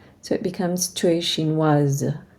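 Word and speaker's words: chinoise: it becomes to a shin was and now we can pronounce the S okay looking at these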